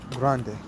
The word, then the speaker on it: Grande: community in the Rio Grande for granted it is pronounced grant hill grande speaking Spanish he said bilingual borders